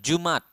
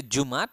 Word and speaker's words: Jumat: is Thursday we have Jumat you can say Jumat or Jumat so you can like put a apostrophe There so ya jumat This